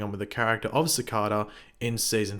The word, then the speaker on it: Cicada: And yes, for those going Pagey, it's pronounced Cicada. Look, I pronounce it Cicada. Others do as well. It's like tomato, tomato.